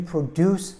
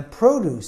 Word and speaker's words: produce: a good idea isn't enough you need to produce something the carrots and broccoli are in the produce section of the store produce means like to